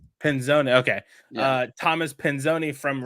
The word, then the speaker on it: Pinzone: how do you say it? If you want to be really it's Pinzone. Pinzone.